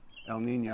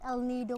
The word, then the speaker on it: El Nido: So we flew off to El Nino El and Nido. spent a week in El Nino. Actually, it's El Nido, Palawan. El Nido. Yeah. Yeah, I always say it wrong.